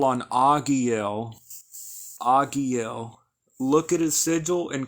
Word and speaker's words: Agiel: Again, it's Agiel.